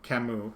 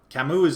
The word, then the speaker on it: Camus: I'm annoyed that we don't get to do some Camus reading, or however you pronounce it. Camus.